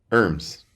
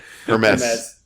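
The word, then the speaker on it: Hermès: do you pronounce that hers Hermes Hermes there's no Z in Hermes her Hermes it's yeah actually I trust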